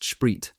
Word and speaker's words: Sprit: Our company wouldn't often get to see such a concentration of standing and presumably unmanned T34s along with a lot of sprit pronounced shrit and soldiers slang for